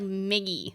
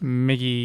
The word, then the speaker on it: Miki: why is it like Miggy like why is it like Mi GGI migy that's not my name Mickey do you know do